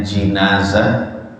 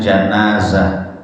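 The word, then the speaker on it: جنازة: Jadi dalam bahasa Arab jenazah itu bisa diucapkan dengan jinazah, itu dengan kasrahnya jim, bisa juga dengan janazah, yaitu dengan fathahnya huruf jim.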